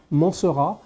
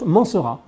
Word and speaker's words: Mancera: Mancera. In French, you pronounce Mancera. But I'm pretty sure in Italy you can Mancera, or, you know, in Italy, but I would say Mancera.